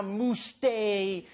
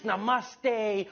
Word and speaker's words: namaste: dude it's not now mooste it's namaste who messes up namaste this isn't a mousse day but to those Indians